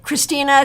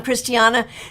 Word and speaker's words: Christiana: Halliwell right now um Christine and don't you hate it Christina Christine I'm Christiana don't you hate it when people get the variation of your name wrong like I think Christine is a beautiful name but it's not my name and a lot of